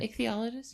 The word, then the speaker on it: ichthyologist: So the goblin shark was named by an ichthyologist. I hope I'm pronouncing that correctly. You got it, ichthyologist?